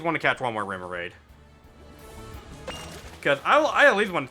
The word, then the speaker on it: Remoraid: I at least want to catch one more Remoraid.